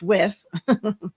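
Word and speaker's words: Wythe: at the constittution convention wife oh pronounced with was the first law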